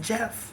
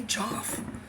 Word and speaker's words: Joffrey: He said, just pronounce it Jeff. That's what he said. He said, don't call me Joff. I said, but it's Joffrey. He's like, it doesn't matter. It's Jeff.